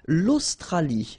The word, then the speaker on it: l'Australie: L'Australie, l'Océanie, l'Antarctique, l'Eurasie, l'océan Atlantique, l'océan Pacifique. Okay, so let's see them one more time. L'Australie, final E not pronounced.